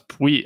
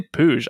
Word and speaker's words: Puig: I always get confused at how they pronounce his name. I thought it was Puig. I would think it'd be Puig, but they say Puig.